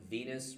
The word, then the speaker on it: venous: The way I remember that the vein is more medial than the artery is the rhyme Venous rhymes with penis.